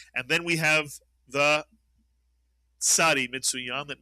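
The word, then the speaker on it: צדי: And then we have the tsadi, Mitsuyan, that makes the the TZ sound, as in Mr. and Mrs. Cats. Cats, the ts sound.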